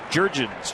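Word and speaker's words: Jurrjens: Jair, and then Jurgens, just like it's spelled.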